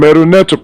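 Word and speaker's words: Medu Neter: The ancient Egyptian called their writing system Meduneta, pronounced Meduneta, which means God's word or divine word.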